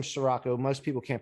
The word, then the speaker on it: Ciorrocco: i say superhero because my last name is siraco most people can't pronounce it my friend started calling me